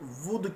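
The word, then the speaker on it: وُدّ: کا نام ود تھا۔ یہ اس کا تلفظ ود کہتے، یعنی واو کی پیش سے۔ ہو سکتا ہے یہ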